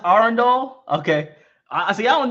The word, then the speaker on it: Arundel: It's pronounced Arundel.